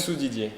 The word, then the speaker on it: Soudidier: How do you pronounce your last name? Soudidier.